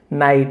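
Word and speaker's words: knight: एन ओ डब्ल्यू नो, नाइट, वो सूरवीर और नाइट, के एन आई जी एस टी, नाइट, सूरवीर कहा जाता है।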